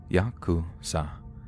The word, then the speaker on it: Yakuza: are fairly complex but the worst possible three cards to draw are eight nine and three pronounce Yakuza in Japanese the implication being that